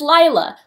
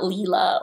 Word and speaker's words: Lila: Lila is Lila, like Delilah, which her name is taken from, not Leela or anything else like that. Holland, obviously, is Holland. Lila, Rye.